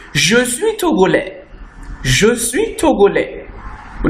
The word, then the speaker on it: Togolais: will say, je suis Togolais. Je suis Togolais. We not say, je suis Togolaise. The S will not be pronounced. Je suis Togolais for a man.